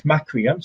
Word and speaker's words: Macrium: Could you say that again, and I'll spell it and put it in the group? It's Macrium, so MACRIUM, Reflect, REFLECT.